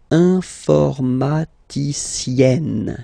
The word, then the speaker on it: informaticienne: And you get the sound informaticienne, sienne. Remember, E and then double N, or then it could be double L or double consonant here. You open your E, so it's E, informaticienne.